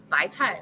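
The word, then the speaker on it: 白菜: So bok choy is pronounced as bai cai, which is the same pronunciation as 100 fortune.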